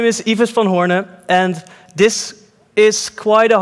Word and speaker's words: Ives van Hoorne: over the speakers yeah but my name is eva spell hornet and this is quite a hard name to pronounce it's even hard to pronounce in the